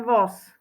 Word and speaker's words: voz: ukázať na rovnakej ukážke píšeme jeden voos počujeme tam ale jeden voz vyslovujeme to so s píšeme to so z Nezabudol si ako si